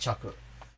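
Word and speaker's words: 着: is the traditional chinese the reading that is derived from chinese is pronounced chaku and korean is pronounced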